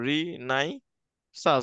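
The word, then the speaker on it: Renaissance: তো রিনেসাস, ঠিক আছে, উচ্চারণ করবে এভাবে, রি নাই সাস, ডাবল এস আছে কিন্তু, খেয়াল রাখতে হবে।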